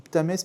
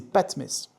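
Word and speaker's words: Ptahmès: Et puis, ce Patmès, pardon, je dis Ptamès, mais c'est Patmès.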